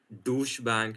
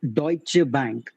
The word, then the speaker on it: Deutsche Bank: correct the name it's deutche Bank deutche bank it's a German word deut yeah it's a